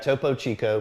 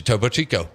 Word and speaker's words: Topo Chico: Then I got Toppo Chico. Uhhuh. Um, I don't know. I mean, it's just a It's a topo chico.